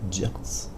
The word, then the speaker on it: Yeats: Yeats, pardon. Alors, William Butler Yeats, prononcé Yeats, est un poète dramaturge irlandais.